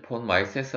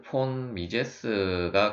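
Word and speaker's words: von Mises: 폰 미세스 같은 경우는 이제 어떤 사람들은 예 폰 마이 세스 라고도 하고 오븐도 폰 미제 스 라고도 하는데 실제 이제 정확한 발음은 이제 보기 러 이기 때문에 아마도 이제 폼 미 제스가 가장 가까울 텐데 일단 이제 영어 상으로 표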